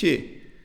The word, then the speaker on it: xue: The way the people in the movie actually pronounced that word sounded more like S-I-U. It's just xie, xie. Like, that's all this xie. They didn't even pronounce the X. In Chinese, X is different from S. They were really just pronouncing xie.